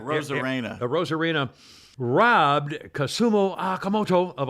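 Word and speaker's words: Arozarena: Randy Rosarina, how do you pronounce it? Rosarena.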